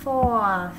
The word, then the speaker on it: fourth: Rồi tới 4, 4 thì nó sẽ đổi ra chữ for này, fourth, đuôi th đọc là fourth.